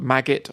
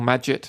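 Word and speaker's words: Magit: plugin for Emacs called maggot or majid I didn't hate pronounce it it's like magic but with the T instead of a C and and those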